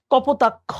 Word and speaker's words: কপোতাক্ষ: যেমন মাইকেল মধুসূদন দত্তের যে স্মৃতি বিজড়িত নদী কপোতাক্ষ, হ্যাঁ, লাস্টে দেখো খ, অ, ওইটাও নদ।